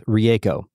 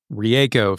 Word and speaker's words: Rieko: The correct pronunciation of her name is Rieko. Rieko.